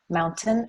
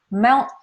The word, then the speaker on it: mountain: t, t, t, mountain, and that's a true T. But I can also say it a little more lazily, a little more casually, mount. So the T is back here. I'm stopping the sound.